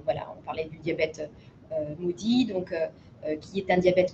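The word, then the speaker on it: MODY: Alors maudit, je précise, c'est maudit M-O-D-Y. Ça s'écrit pas maudit comme malédiction, mais c'est M-O-D-Y. Donc c'est un diabète qui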